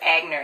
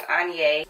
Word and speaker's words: Aigner: A lot of people mispronounce it as Aigner. It is Aigner.